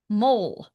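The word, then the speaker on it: Møl: One mole. Dreamc crusher. Mole is pronounced roughly like mole rhymes with dull.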